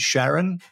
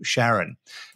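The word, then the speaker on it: Charon: talking about Pluto and Sharon I think that's how it's pronounced or k c h a r o n we'll call her Sharon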